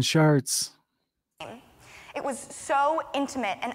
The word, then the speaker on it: Chartres: Stop saying Chartres. It was so intimate and unlike anything we had seen and I have seen ever. By the way, it's not spelled S-H-A-R-T. It's spelled C-H-A-R-T-E-S. It's a French word, I believe.